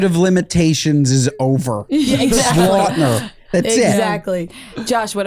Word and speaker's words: Lautner: Lautner.